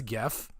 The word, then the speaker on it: GIF: when it should be as simple as gif with a hard G because it is a graphics interchange format and jiff with a